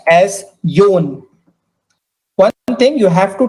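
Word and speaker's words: よん: Number 4 is pronounced as yon. Number 4 is pronounced as yon.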